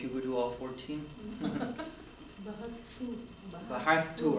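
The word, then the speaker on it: بحثتُ: You're trying to say bahatha is I to look for, right?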